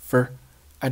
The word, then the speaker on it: for: Did 接 with 的失去爆破，stuff 接 with 的不发音，这是因为 stuff 接 with 的和后面 for 开头的发音一致，咱们只保留一个就好了。后面的 for 弱读读成了 fur。I did stuff for。后面 Abercrombie and Fitch 正常读就好，再往后 But